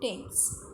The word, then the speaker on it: Thames: Student, pronunciation of this river is Thames.